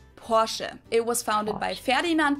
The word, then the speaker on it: Porsche: the ex German side in German we say por so there's like this short a sound in the end Porche it was founded by